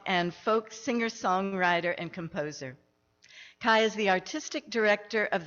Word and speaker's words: Kiya: Those of y'all who don't know how to say my name, it's Kiya. The way to remember is like Hiya Kiya.